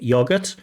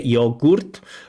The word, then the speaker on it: yogurt: Now in English of course usually we say yogurt and we wouldn't say yogurt because in English most of our unstressed vowels are pronounced with this schwa sound.